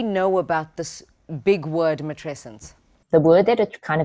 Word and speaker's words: matrescence: Please help me pronounce it. Teach us all. Okay. So the word is called is matrescence. Matrescence.